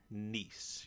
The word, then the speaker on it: Kneese: know the the name the k is silent in her name but anyway for this